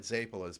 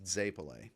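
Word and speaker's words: zeppole: We call it Zapolas, but she lectured me in March that it's Zapole.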